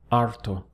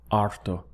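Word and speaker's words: harto: of the sound in Spanish is arto notice that we have a silent h so the pronunciation really starts from the a arto now as a male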